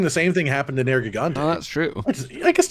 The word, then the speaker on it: Nergigante: So low rank Nergigante, yeah. No, he's back. Nergigante. Wait, surely that's how you're supposed to pronounce it. Gigante, like gigantic.